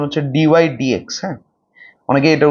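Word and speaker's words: dy/dx: অবকল সহক অবকল সহক ডিওাই ডি এক্স এর উচ্চারণ হচ্ছে ডিওাই ডি এক্স অনেকে এটার উচ্চারণ ডিওাই বাডি এক্স করে কিন্তু এর একচুয়াল প্রনান্সিয়েশন হচ্ছে ডিও ডি এক্স বা এফডশ এক্স দ্বারা নির্দেশিত হয় দ্বারা নির্দেশিত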